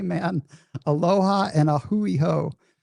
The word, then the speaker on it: a hui ho: Aloha and a hui ho. I remember a hui ho because I always remember it rhymes with like a dirty ho, right? A hui ho.